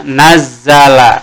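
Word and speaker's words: نزّل: Seperti huruf kedua di sini kan huruf zal ya, berarti kita membacanya menjadi naz kalau didobelkan hurufnya nazzala begini ya naz zala.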